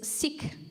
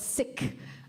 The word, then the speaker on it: Sikh: next three weeks is seek wisdom um actually it's called sick it's it's uh it's an awkward uh syllable to say in English because it sounds like sick but siki um it's